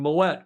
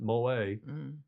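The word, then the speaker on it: Moët: time thanks for pronouncing moette correctly Tom alist Murray is saying yeah Americans tend to pronounce it Mo which is not correct it's what what it's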